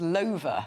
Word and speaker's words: Lover: Which is actually pronounced, I'm sorry to disappoint you, but it's pronounced Lover.